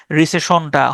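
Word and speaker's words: rescission: তারপরে যখন মুদ্রাস্ফীতি বা ইনফ্লেশন যখন বেড়ে যায় তখন রিসেশনটা হয়।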